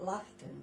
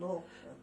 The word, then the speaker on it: Laughton: You know, he pronounced it Laughton instead of Lawton.